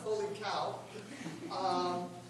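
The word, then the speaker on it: H0LiCOW: I was going to save that for later, but yes, it's pronounced holy cow.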